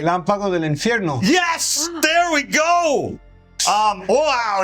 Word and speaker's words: Relámpago del Infierno: I think I pronounced that right. Relámpago del Infierno.